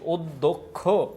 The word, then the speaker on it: অধ্যক্ষ: দেখো অধ্যক্ষ স্বরে অটা আদ্য অটা ও এর মত উচ্চারণ হচ্ছে অধ্যক্ষ অধ্যক্ষ এ জায়গায় দ